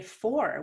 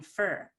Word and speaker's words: for: and fight me with they really like to say four which is a lot more work than just saying fur cats eat mice for